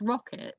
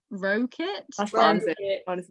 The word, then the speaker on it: Ricard: said because it it's it's rocket is how you're supposed to say it i don't know but i i spent years saying like wrote it and then you know